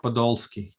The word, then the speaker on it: Podolsky: my pleasure and a privilege to welcome mark podolski hi mark mike zladnick how are you oh